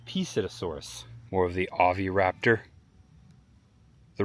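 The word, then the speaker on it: Psittacosaurus: This is the Psittasaurus, spelled with a P, Psittasaurus.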